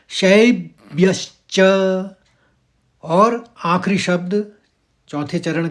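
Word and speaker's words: शैब्यश्च: तो हम इसको पढ़ेंगे शब एकदम उसे एक ही स्वर में निकालेंगे। पहले शब फिर व्यस च दूसरे आघात के लिए श आ जाएगा और च पूरा पूरा तो इस शब्द को पढ़ा जाएगा शब्यश और आखिरी शब्द चौथे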